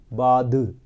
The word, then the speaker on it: bathe: और जो नहाने का वर्ब होता है वो होता है BATHE, बाध। बाध मीन्स नहाने की क्रिया, और खाली बाथ नहाने का नाम। तो दोनों में फ़र्क है प्रोनाउंसिएशन में। बाध वर्ब के तौर पे, बाथ नाउन के तौर पे।